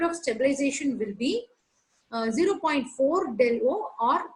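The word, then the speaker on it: Δo: You should not pronounce it as delta naught. It is del O, octahedral, or 10 dq.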